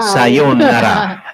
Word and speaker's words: Sayonara: Sayonara. Sayonara, right? Sayonara. Sayonara. Sayonara. Sayonara. Though 2 syllables gali. No? Sayonara. Hindi nga sayonara. Sayonara. Ang emphasis sa second. Ang nabatiyan ko naging balaya, sayonara.